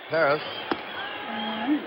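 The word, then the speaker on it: Pérez: Kubek on deck man Perez Perez I think Kubek is correct he says Paris better I guess that's the Latin American pronunciation PEs but canal said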